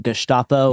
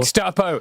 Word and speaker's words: Gestapo: It's kind of a minor point, but also his pronunciation of Gestapo. Gustapo.